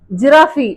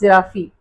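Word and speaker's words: giraffe: அனிமலோட பேரு ஜிஐஆர்ஏபள் எ ஜிராபி அப்படின்னு சொல்லுவாங்க ஏன்னா லாஸ்ட்ல இ இருக்குது இல்லையா அதனால ஜிராபின்னு சொல்றாங்க அப்படின்னு நினைக்கிறேன். இட் இஸ் ஜிராப் நாட் ஜிராஃபி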